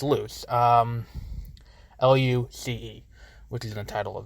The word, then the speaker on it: Luce: name in the movie I thought it was a Lucy but it's loose oh you see which